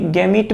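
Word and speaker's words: gamete: এটাকে কেউ কেউ আবার গ্যামেটও বলে থাকে। এটাকে আবার কেউ কেউ গ্যামেটও বলে থাকে। তাহলে দেখো, এটার আসলে ইংলিশ বানানটা হচ্ছে এরকম, গ্যামিট। কেউ কেউ এটাকে বাংলাতে গ্যামিট বলে, কেউ কেউ এটাকে বাংলাতে গ্যামেট বলে। আসলে একই জিনিস।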